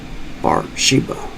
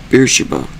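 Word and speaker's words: Beersheba: Wait, wait, wait. Beersa. I mispronounced the damn thing. Damn it. So, I reread this one since I up. It's Beersa, as I meant to say the entire time.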